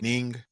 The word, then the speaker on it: Niang: never pronounce his name cuz he doesn't pronounce it the way that's spelled. Mhm. Ning He used to play for the Georges Niang year.